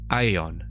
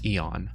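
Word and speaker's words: aeon: Maybe nowadays most people pronounce it like E, but why not teach them that in Latin it was a diphthong? Ah, and then E. Aether, not ether. Ion, not eon. Two different vowels.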